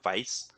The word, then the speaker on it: Weisz: I had to look up the pronunciation of her last name, so I think I'm pronouncing it correctly, but Rachel Weisz, she played Evelyn from The Mummy.